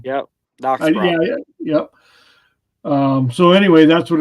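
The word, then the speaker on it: Dachsbracke: Applandis, yeah, the German pronunciation. Yep, Dachsbrock.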